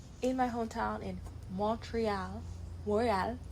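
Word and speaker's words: Montréal: Moral in French, how how we pronounce cuz Quebec. Quebec is a French province. So, it's Montreal. Yeah. Uh tonight. Moral.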